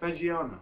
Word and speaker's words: Fagiano: Fagiano. Is that how you say it? Fagiano.